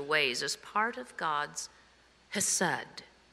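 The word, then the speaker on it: חסד: Chesed is the Hebrew word that I'm not pronouncing correctly because it has this really harsh, throaty HCH that would probably break the microphone, so I'll just leave it alone in its English transliteration.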